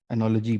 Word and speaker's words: analogy: तो बस ये एनोलॉजी है, एनोलॉजी है, सॉरी, एनोलॉजी बोलते हैं इसको, एनोलॉगी नहीं बोलते।